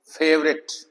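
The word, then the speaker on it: favourite: तो इसमें ओ साइलेंट है। फेवरेट फेवरेट chocolate.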